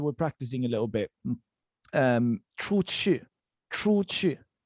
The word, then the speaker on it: 出去: practicing a little bit, 出去. So the pronunciation goes 出 and then 去. It's very confusing, but because it's two U's, but I want you to think of this U as a V, okay?